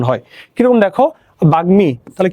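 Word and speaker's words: বাগ্মী: উচ্চারণ হয় কিরকম দেখো বাগমি তাহলে কি আছে বাগমি তাহলে গ এর সাথে ম আছে এইযে গ এর সাথে ম ফলা রূপে যুক্ত আছে তাহলে গ এর উচ্চারণ হবে ম এর উচ্চারণ হবে বাগমি তাহলে কি হবে ব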